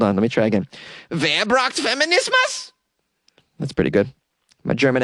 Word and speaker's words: Wer braucht Feminismus: Wer braucht Feminismus? It translates to, who needs feminism? Oh, I should say it like a question then. Hold on, let me try again. Wer braucht Feminismus?